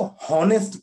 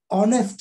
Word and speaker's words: honest: Actually अगर देखा जाए तो कुछ लोग इसको हॉनेस्ट पढ़ते हैं, यच को प्रोनाउंस कर लेते हैं, जबकि यच जो है साइलेंट है, इसका प्रोनाउंसिएशन ऑनेस्ट है। हम हॉनेस्ट नहीं बोलेंगे, ऑनेस्ट बोलेंगे।